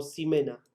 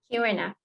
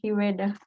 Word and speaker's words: Jimena: ¿Es Jimena o Ximena? Jimena. ¿Con G? O sea, ¿lo pronuncio con G o con X? Con G, Jimena.